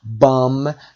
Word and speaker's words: bomb: وقتی بمبی به جای برخورد بکنه میگیم it has been hit by a bomb. بی تلفظ نمیشه، بی دومش.